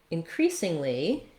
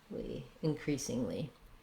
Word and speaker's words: increasingly: it's more it's clearer increasingly has second syllable stress so it's like more like the verb um increasingly we have um our lex if sound then the stressed syllable has a tense e sound crease so rewriting